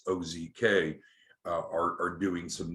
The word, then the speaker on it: OZK: uh ozark bank which it's not pronounced ozark it's ozk uh are are doing